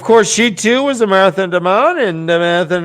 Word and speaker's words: Marath: must be leashed it says that m-a-r-a-t-h guys i said it right marath demonic you